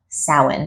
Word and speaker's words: Samhain: an ancient Irish holiday called Salin I know it's not spelled salmon it's spelled Samhain and it took me a minute I actually heard the word sound before I saw the word Salin so when I finally saw the word Salin I was like I don't think that's it I don't think that's how it's spelled but it is so Halloween actually pulls